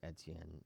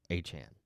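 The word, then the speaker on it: Etienne: But his last name is not pronounced ETN. It's called like also Achan.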